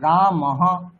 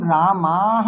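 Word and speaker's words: রামাঃ: আকারটা দ্বিমাত্রা বর্ণ, তাহলে আকারটাকে আগে আমাদেরকে কিন্তু টানতে হবে দীর্ঘ বলে উচ্চারণ করার পরে বিসর্গ।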